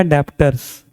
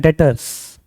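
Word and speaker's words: debtors: इसे बोलते हैं डेटर्स, कोई डेप्टर नहीं बोलेगा।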